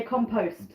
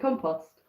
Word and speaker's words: compost: Americans say compost. I can never get over that. We pronounce it compost. Now you could say the word post is pronounced post, so therefore compost is correct. But the word lost is pronounced lost. So compost, we pronounce it as in post as in lost. Americans pronounce it post as in post.